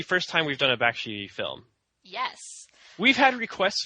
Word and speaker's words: Bakshi: In Texas, it's pronounced Bakshi.